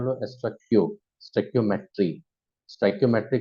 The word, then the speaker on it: Stoichiometry: उसको प्रोनाउंस करते हैं हम लोग स्टोइकियोमेट्री।